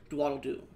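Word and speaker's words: Dwaldledu: Dwaddle-doo.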